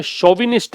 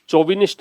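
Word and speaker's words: chauvinist: पहले तो इसका प्रोनाउंसिएशन ध्यान रखिए, शोविनिस्ट है, चोविनिस्ट नहीं है। ऐसे पहला अक्षर ये आएगा, शोविनिस्ट।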